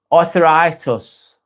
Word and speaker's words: Arthuritis: Also, sorry if I'm being rude, but I'm pronounced Arthur. Arthuritis.